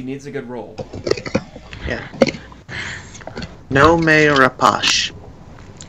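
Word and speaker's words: Noomi Rapace: So my choice, Numi Rapace, because she needs a good role. Yeah. Nome Rapace is basically how you pronounce it. I just listened to the pronunciation thing.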